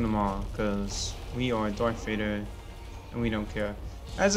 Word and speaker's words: Darth Vader: As a kid, I always pronounce it as Dark Vader, cause I thought that that's how you actually say it.